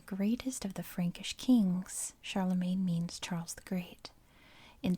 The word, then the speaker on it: Charlemagne: to 814 charlemagne and i know his name is pronounced charlemagne i know how to say his name properly but i use american english pronunciations and here we call him charlemagne i guess it's like champagne right anyway charlemagne the grandson